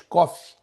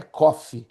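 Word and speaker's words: Qof: e café em inglês, cofe. Então, se você lê o pé da letra, dá aquela ideia, né, que é coffe, né, café em inglês, mas não é.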